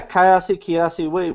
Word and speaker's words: Kyasi: So now the company, it's called Kyasi. Is that I'm pronouncing it correctly? Yeah, Kyasi.